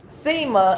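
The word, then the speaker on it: sima: is automatically so the oceanic crust is is pronounced um SEMA and then let's see what SEMA stands for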